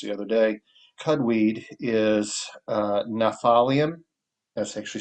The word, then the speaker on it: Gnaphalium: Cudweed is Gnaphalium. That's actually spelled with a G. It's Gnaphalium. So it's got a silent G and a silent, well, PH, which usually is pronounced like an F. So Gnaphalium is astringent, diaphoretic, and diuretic.